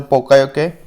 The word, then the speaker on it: Poka-yoke: You can pronounce it as a pokayoke, which is also an Japanese term.